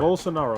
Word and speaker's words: Bolsonaro: Yep. Bolsonaro. That's how you say his name.